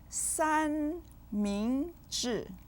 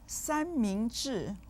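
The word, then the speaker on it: 三明治: 三 with the first tone, 明 with the second tone, and 治 with the fourth tone. You might eat one 三明治 or more each week.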